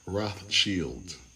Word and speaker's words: Rothschild: I was saying it wrong. Rothschild, I was saying. Rothschild.